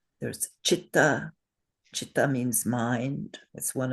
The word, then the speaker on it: citta: unaspirated letter which is the first column that is always pronounced cha. So we know the words in Sanskrit you have probably heard them chakra. There's chitta.